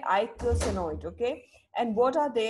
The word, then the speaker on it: eicosanoid: all about okay so this is pronounced as I go see note ok eicosanoid okay and what are